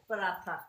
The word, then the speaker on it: Paratha: Paratha.